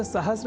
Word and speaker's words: सहस्र: तो यह शब्द सहस्र इस रूप में ही सर्वथा शुद्ध है।